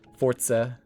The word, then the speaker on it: Forza: And I So anyway, Forza Horizon 6 or if you're if you want to pronounce it right, Fortza Horizon 6. I can't I I can't I don't know why I can't say Forza.